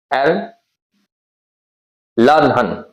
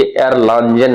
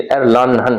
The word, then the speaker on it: Erlangen: अगर देखने में आपको लगता है तो ये एयरलांजन लग रहा है ना, लेकिन एयरलानहन है, एयरलानहन, ठीक है।